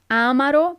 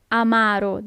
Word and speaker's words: amaro: aido bitter amaru amaru so it's not Amaro but Amaro the accent is on the second a salt is Sal is